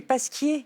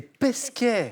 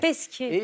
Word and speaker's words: Pesquet: J'ai mal prononcé, Oui. c'est Pasquier. C'est Pesquet. Pesquet.